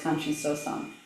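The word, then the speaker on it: Kanchi Sōsan: 3rd Chinese ancestor, who in the Japanese pronunciation we know as Kanshi Sosan.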